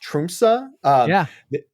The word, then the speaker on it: Tromsø: It was actually, funny enough, sold by a small Norwegian airline based out of, I believe it's pronounced Tromsø.